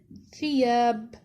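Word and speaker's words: ثياب: Example, thiyab. Thiyab means clothing. The tha here is in the beginning, pronounced as fi, thiyab.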